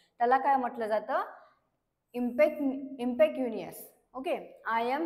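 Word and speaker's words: impecunious: सी य एन आय ओ एस तर याच प्रोनन्सिएशन आहे इमपॅक्ट युनियस तर याच मिनिंग काय आहे हविंग लिटल नो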